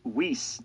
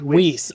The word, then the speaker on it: Whis: It is pronounced Whis, not Whis.